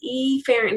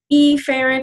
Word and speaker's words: efferent: Efferent, again, is not really correct pronunciation. It should be efferent, but you may have a hard time hearing the difference between afferent and efferent.